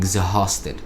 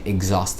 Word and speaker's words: exhausted: ال H اللي في exhausted دي مش بتتنطق، هي مش بتتقال exhausted، لا هي exhausted على طول، لكن ال H دي مش موجودة.